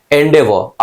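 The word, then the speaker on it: endeavour: इसका डिटेल समझते हैं एंडेवर आर साइलेंट है दैट्ची करना सिंपल सी बात है भाई साहब एंडेवर अच्छा ये एक गाड़ी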